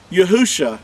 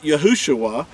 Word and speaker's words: Yahusha: figure this out that when you put yahuwah and Yasha together you get yahusha not yahushua because the Hebrew number here